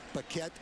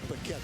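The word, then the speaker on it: Bequette: after a penalty but it is Jake betet Becket I keep calling him Jake pette somewhere in my past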